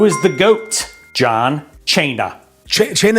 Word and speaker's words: Cena: Cena is how you pronounce Cena. It means dinner.